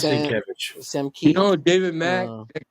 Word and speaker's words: Sienkiewicz: You mispronunciate Nate. It is Sienkiewicz.